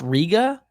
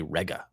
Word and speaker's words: Rega: Riga, it's pronounced Riga. I thought that's how like us Americans say it. I was like, oh, for sure, it's got to be Rega. But no, it's Riga.